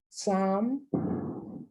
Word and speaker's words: psalm: Psalm, not only is the L silent, but so is the P.